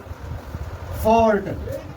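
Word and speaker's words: fault: का उच्चारण ए यू, कोई भी वर्ड में यदि ए यू आता है उसका भी उच्चारण होता है औ, इसका भी उच्चारण होता है औ। जैसे में देखेगा फॉल्ट, एफ ए यू एल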